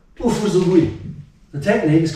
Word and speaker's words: Ufusugui: So the Uchinaguchi pronunciation for it is Ufu.